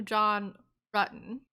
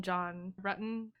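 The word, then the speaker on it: John Ruetten: asked if she knew john button they pronounced it wrong and she corrected them she's like oh do you mean john rutten then questioned her about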